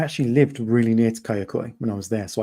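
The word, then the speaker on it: Kayaköy: don't know if I'm going to pronounce it right, but Kayakoi, Yeah, Kayakoi, exactly.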